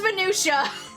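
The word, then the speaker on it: minutiae: Or or is it minutia? Wait, hold on. Is that minutia? I'm googling. I'm googling how to pronounce this word. We're learning words today. Pronunciation, please. Pronunciation, please. It's minutia.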